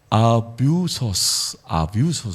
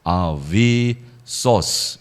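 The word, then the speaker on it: ἄβυσσος: 헬라어로는요, 아뷰소스 그렇게 돼요. 아뷰소스. 한번 따라하시죠. 아비소스. 예, 뭐 혹은 아비소스. SS가 되면 자음 두 개면 경음화가 일어나요. 그래서 이게 요 유가 위 혹은 우 발음 다 되는데 아비소스 이렇게 하는 것이 뭐 헬라적인 발음이 더 맞겠습니다.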